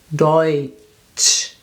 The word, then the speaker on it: Deutsch: So this is a combination of two letters and we pronounce it Oi, Deutsch.